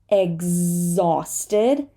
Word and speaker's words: exhausted: Pumas there are cheetahs sometimes we do not say the H after an X exhausted exhausted and exhibit exhibit